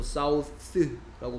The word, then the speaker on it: southern: 그래서 요거는 이제 혀를 무는데 바람만 붙는 소리라서 사우스라고 발음하고 얘는 똑같이 혀를 무는데 혀가 떨려야 되기 때문에 목이 떨려야 되기 때문에 southern이라는 발음이고요.